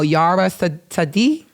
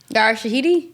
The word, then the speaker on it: Yara Shahidi: I keep saying her name wrong, so y'all help me out. Yara Sadi. She played Tinkerbell. Yara Shahidi?